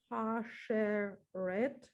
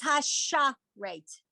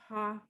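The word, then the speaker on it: הַשָּׁרֵת: Hasheret. Okay, so it's hasha rate. Hasharet. Hasharet.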